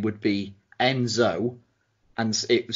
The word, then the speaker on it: nZo: ring name would be Enzo and it was spell lowercase n capital Z lowercase o get it right okay get it because it sounds like Enzo but it's spelt differently you say the end